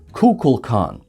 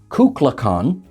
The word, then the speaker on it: Kukulkan: with other cast members spock correctly says kukulkan because leonard nimoy had the correct script in front of him william shatner pronounced it kukla khan because there was no one there to supervise him so quite frankly they're both kind of correct and also wrong so either kukulkan or